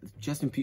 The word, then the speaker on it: Justin Pugh: off with their starting left guard justin pugh justin p that's how you say it right yeah yeah